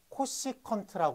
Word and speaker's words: 코시컨트: 좀 귀찮으니까 사인의 역수를 코시컨트 부릅니다 그래서 csc고 써요 그리고 뭐라고 읽어 코시 컨트라 읽어요 그럼 코사인의 역수를 sec고